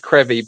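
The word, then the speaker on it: Crovie: Uh one particular springs to mind is Krevy. Uh it's it it's pronounced Karevy, but it's spelled Kravi.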